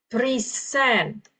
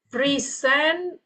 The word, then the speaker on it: present: Okay, the word here is present. Okay, now okay, present and then present.